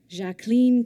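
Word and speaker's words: Jacqueline: their spouses patn and jacen Kennedy that is how she preferred to say her name the two women were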